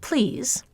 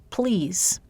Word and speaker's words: please: In the English word please, I could pronounce it with an ordinary voiced L, please. It would be a little unnatural, but it's possible. Or, because of perseveratory assimilation, I could devoice that L and pronounce it please.